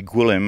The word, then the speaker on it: Gwilym: Well, in actual fact, I shorten it for heathens like yourself, because it's actually Gwilym, and it's Welsh.